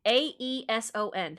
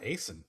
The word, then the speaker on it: Aeson: A E S O N, how would you pronounce that, friends? Yeah, Aeson. Like what A son, a son, Aeson. Yeah. Jason and Aeson, rhymes with Jason.